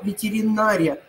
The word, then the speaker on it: ветеринария: Нет, нет, вот запомните, асимметрия, но ветеринария. Вот здесь они будут в корне отличаться ударением.